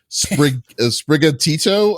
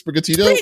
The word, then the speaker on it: Sprigatito: Sprigatito, I guess. Is that what it is? Sprigatito? Yeah, that's what it is. Yeah. You gotta say it like with that. It's Italian stereotype.